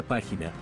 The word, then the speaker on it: página: Por ejemplo, en la palabra página, la sílaba tónica es la antepenúltima, por lo que se coloca una tilde en la A.